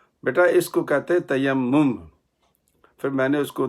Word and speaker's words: تیمم: سمجھنے والے بھی ہیں۔ جو صحیح تلفظ اس کا وہ ہے تیمم۔ اس کا مسئلہ اللہ